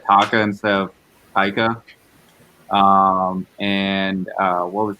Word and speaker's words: Taika: you do not know when i said taka you knew i meant taika i did but there's